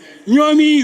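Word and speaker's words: Niumi: The way that we spell it. Yes. Yeah. Nyomi is N-I-U-M-I.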